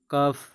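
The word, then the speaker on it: cough: आगे देखिए और भी कुछ वर्ड है, जी एच को हम फ पढ़ते हैं, जैसे लाफ, कफ।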